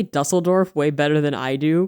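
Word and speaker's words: Düsseldorf: I was like, oh yeah, in Dusseldorf, we got crunked up and then we pretended to be the Hat Man.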